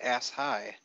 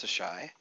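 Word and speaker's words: Asshai: that for whatever reason is not pronounced ass high uh but as instead pronounced the shy uh she uh really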